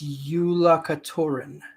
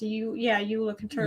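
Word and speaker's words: Jólakötturinn: It's Yola Katurin. It's Icelandic. It's spelled with a J, but we had to look it up. It's pronounced Yola Katurin.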